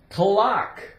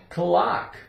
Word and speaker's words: clock: Clock. Clock. The C is silent.